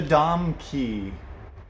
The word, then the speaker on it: Domke: one for you too what rhymes rhymes with rom key and is super helpful and useful it's the dom key wrap dom key wrap